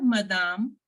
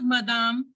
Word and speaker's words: madame: means good morning ma'am it is not Madam no not like English good morning ma'am bonjour madame hello ma'am okay hello